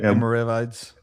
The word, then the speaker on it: Almoravids: Almoravid Almoravids Almoravids Yeah, you know, so